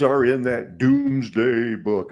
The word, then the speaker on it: Domesday: names are in that Doomsday Book I know it's spelled domesday for some reason it's doomsday that's the way everybody says it that's the way it sounds cool Henry Hudson Fort